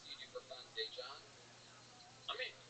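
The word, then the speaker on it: Daegen: His name is spelled D-A-E, which is day, and then it's G-E-N.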